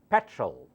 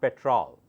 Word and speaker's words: petrol: It's pronounced as petrol, not petrol. Petrol, petrol, petrol.